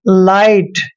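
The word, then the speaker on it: light: में ई आया है इसलिए हमने ई का उच्चारण नहीं करना है काइट पढ़ना है जैसे अ लाइट एल आई अ टी ई ऐसे यह लाइट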